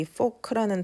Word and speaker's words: folk: 그런데 우리 여기 folk라는 단어도 중요하니까 좀 따로 알아놓을까요? folk 하면 뜻이 그냥 일반 사람들을 말하는 겁니다. 그래서 일반 사람들을 그린 그림이니까 민화겠죠? 그리고 이 folk의 발음은 L이 묵음이에요. 그래서 발음은 folk입니다.